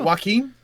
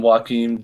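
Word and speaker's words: Joakim: name uh Soria yeah is it Joaquin I don't know some people call him joaquim joking sorry is probably very common as well yeah because it's spelled the same way as uh as joking Noah so we're gonna go with that uh let's pull this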